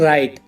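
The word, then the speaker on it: write: गफ साइलेंट रहता है एस के बाद आया हुआ डब्लू और आर से पहले आया हुआ डब्लू साइलेंट रहता है चुप रहता है ये बोलता नहीं है बिल्कुल शांत रहता है फॉर एग्जांपल रॉन्ग राइट और राइटर इन सब में आर से पहले डब्लू आया हुआ है तो डब्लू साइलेंट है इसमें रंग की हिंदी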